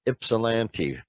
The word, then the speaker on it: Ypsilanti: It's pronounced Ypsilanti, folks.